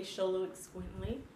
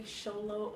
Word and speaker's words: Xoloitzcuintli: He is a Sholowitz Squintly. I will put that down right here somewhere. Leave that, you know, show you how to spell it. Or you can just say Sholo or Mexican Hairless, you know, for short, or